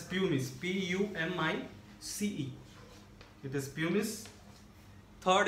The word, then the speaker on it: pumice: is second is pumice we have to pronounce it as pumice p-u-m-i-c-e it is punish